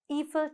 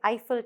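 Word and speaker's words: Eiffel: மனிதனின் எலும்புகளையும் தசைகளையும் வடிவமைப்பை வச்சு என்னத்தை உருவாக்கியிருக்காங்க, ஈஃபில் டவர் இல்லாட்டி ஐஃபில் டவர் இன் பாரிஸ். அது ரெண்டு விதமாகவும் உச்சரிக்கலாம்.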